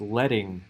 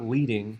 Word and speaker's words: leading: so next we have this is actually pronounced letting not leading and it's called that